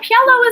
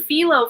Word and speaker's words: Pielo: Oh, Pielo is here. Good to see you. I think I said it right that time. I was calling you Philo for the longest time, and you're like, it's this.